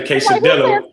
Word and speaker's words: quesadilla: You got to roll your R's and say your J's, and 2 L's is really a Y. Like I'm learning. Like stop saying quesadilla.